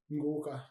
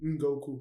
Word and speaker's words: Ngoka: Ngoka. Ngoka. I almost think of it as Goku. Like it's almost spelled the same way, Goku. Just N in the beginning. Ngoku.